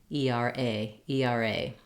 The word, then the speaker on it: ERA: types of abbreviations where we tend to stress on the last syllable and we say each each letter the letter name and so we just